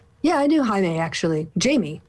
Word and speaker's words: Jaime: Jamie, basically. But pronounced Jaime.